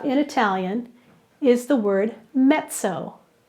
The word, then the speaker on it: mezzo: The prefix that we have in Italian is the word mezzo. Mezzo. In Italian, two Z's together are like pizza. So it's not pronounced mezzo, it's pronounced mezzo, like the Z's in pizza.